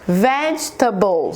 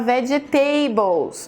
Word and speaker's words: vegetables: Você vê que a primeira sílaba é a mais forte? Em português, pessoas que falam português têm uma tendência a falar vegetables, porque a gente tenta colocar nessa palavra a mesma pronúncia do português.